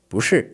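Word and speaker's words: 不是: I could say it like this, bushi, okay? Quickly. That second tone is really quick, just like ooh ooh ooh just going up a little bit.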